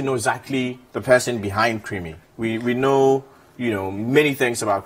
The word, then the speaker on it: Krymi: Okay, my name is Henry Nyama, with stage name Creamy. My Creamy is spelled Krymi.